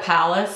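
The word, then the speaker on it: Palais: on the palace bebe I asked her how to say it because everybody seemed to say the loss she called it palace so that's what I'm going with I would like it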